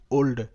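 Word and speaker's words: old: কিন্তু একটা প্যাটার্ন মানে যে সমস্ত শব্দে ও এল ডি এরকম পাশাপাশি থাকবে তখন তার উচ্চারণটা হবে ওল্ড ওল্ড মানে ও এলডি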